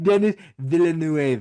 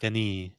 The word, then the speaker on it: Villeneuve: Dennis Villeneuve. Villeneuve. I think it's pronounced Villeneuve or Villeneuve. It's not Dennis Villeneuve. I think it's Villeneuve. Villeneuve, yeah. Villeneuve. Denny Villeneuve. Denis.